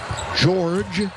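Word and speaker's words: Georges: Board of the night George Nang with control of it spells his first name with an s on the end but it is silent and again the Lakers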